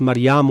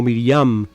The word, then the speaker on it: Miriam: eh los nombres Mariam, el el el nombre hebreo es Mariam o Miriam. Eh, las dos pronunciaciones son eh usadas. Eh, se usa tanto la una como la otra.